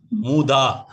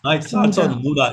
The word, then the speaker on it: mud: satisfaction okay okay M no no muda muda okay mud it's mud the right pronunciation is mud mud yes mud with